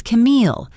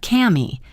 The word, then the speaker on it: Camille: "I tell them it's Camille, not Cammy, not Carmel, not girl."